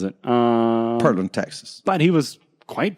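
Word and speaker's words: Pearland: You and Perland, coffee roasters.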